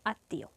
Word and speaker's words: আত্মীয়: এবং সামান্য নাসিক্য হয় যেমন এখানে আছে আত্মীয় এ শব্দের মাঝে ম ফলা আছে তো মাঝে বা শেষে ম ফলা থাকলে কি হয় সেই বর্ণের দ্বীত হয় অর্থাৎ যে বর্ণের সাথে ম ফলা আছে কোন বর্ণের সাথে ম ফলা আছে ত বর্ণের সঙ্গে ম ফলা আছে তাহলে ত এর দৃত্ত উচ্চারিত হবে দৃত্ত মানে হচ্ছে দুইবার ত